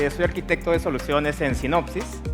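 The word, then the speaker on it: Synopsys: Hola, hola, mi nombre es, soy arquitecto de soluciones en sinopsis. Eh, algunos creen que se pronuncia psicosis, pero en verdad es sinopsis.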